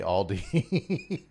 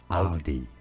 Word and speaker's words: Aldi: It said more as Aldi. Aldi. Okay. So a clearer a sound rather than an o sound.